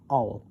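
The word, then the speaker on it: awl: to pierce is an owl owl a-w-l it's spelled in English as it is stated and his master shall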